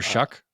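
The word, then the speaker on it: Shough: Oh, that Tyler Shuck? It's pronounced Shuck, which is weird, but Shuck?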